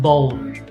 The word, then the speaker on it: bone: Remember, this is like a one syllable word in English. It's not two syllables, it's only one. Okay? Oh yeah. Because the final E is silent, so it doesn't count as a syllable.